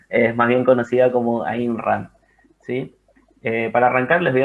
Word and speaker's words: Ayn Rand: fecha sobre alisa si no lleva razón la pronunciación es más bien conocida como imran si para arrancar les voy a dar un